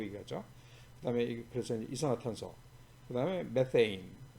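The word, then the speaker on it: methane: 그다음에 그래서 이산화탄소, 그다음에 메테인, 영어 발음은 메테인이고 우리는 그냥 메탄 그러죠.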